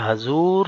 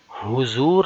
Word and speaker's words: حضور: سوال نمبر 4 ہے، حضور صلی اللہ علیہ وسلم نے، اچھا پیارے بچوں یہ حضور نہیں ہوتا، ہا کے اوپر پیش نہیں، بلکہ صحیح تلفظ ہے حضور، ہا کے اوپر زبر۔ تو حضور صلی اللہ